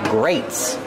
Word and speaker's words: grates: these These are called grates grates it's spelled differently than great but it has the same pronunciation these are greates Kevin